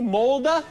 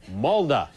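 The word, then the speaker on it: Molde: Spell it for me. M-O-L-D-E. Oh, so it's M-O-L-D-E, Molda?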